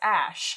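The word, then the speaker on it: Æ: letter X and then the character is pronounced ash and then a -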